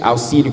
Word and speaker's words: auxílio: A palavra auxílio com X toma a pronúncia de dois S, auxílio com dois S.